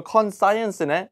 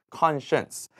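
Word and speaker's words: conscience: 프란시에이션 팁을 좀 드리자면 con하고 사이언스가 있잖아요 그래서이 단어를 보시면 어 이거 컨 사이언스네 이렇게 읽으시면 절대로 안 됩니다 컨센스 그래서 양심이 없다 하면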